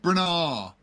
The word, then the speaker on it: Branagh: No, that's not how you pronounce it. Kenneth Branagh. Branagh.